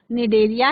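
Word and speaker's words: Cnidaria: तो जो radial symmetry होती है वो आपकी पाई जाती है सिलेंट्रेटा में, सिलेंट्रेटा जिसका दूसरा नाम ही निडेरिया है, इसमें सी साइलेंट, तो निडेरिया है, और टीनोफोरा, दो इसमें हो गई आर्य समिति जिसमें पाई जाती है सिलेंट्रेटा, निडेरिया और टीनोफोरा।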